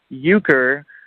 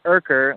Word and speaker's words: Urker: And my middle name is and my last name is pronounced Uker. The R is silent. So it's not it's not Urker like I'm sure you probably thought it was everybody else.